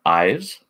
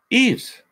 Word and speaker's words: Ives: So, now, do I pronounce your name Ives? Just a simple yes or no will help. I know you can't pronounce it by typing, but when I saw your name, I assumed it's Ives. I may or may not be right. Oh, no. Doggone it. Well, that's why. Oh, Eves.